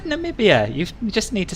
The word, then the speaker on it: Namibia: You said Namibia.